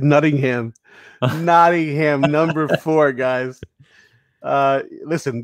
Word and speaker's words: Nottingham: a little bit i i didn't think we pronounced the t's anymore guy would happen if you if you want me to say nottingham it's not a m there it is it's the only way to say it that's it next up